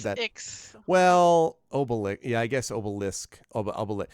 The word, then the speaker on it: Obelix: Because that was what, Obelisk was a Menhir deliverer. So. Wow, you mispronounced both of their names. What? What do you mean? One go. Not Asterisk and Obelisk. Asterix and Obelix.